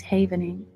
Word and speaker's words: havening: It's called I I pronounce it incorrectly. It's called havening. I said havening in the past. It's havening.